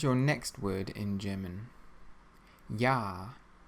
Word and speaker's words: Ja: Ja. Ja. It means yes. Ja. The letter J in German is always pronounced like a Y.